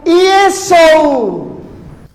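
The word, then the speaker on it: Ἰησοῦς: Tetapi yang saya heran, kenapa dia di sini mengatakan dan membacanya untuk para jemaatnya bukan Yesus, tetapi Yesu.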